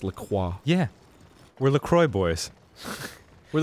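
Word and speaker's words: La Croix: company laqua um but they do call It lroy in America they do even though it is pronounced laqua yeah we're lroy boys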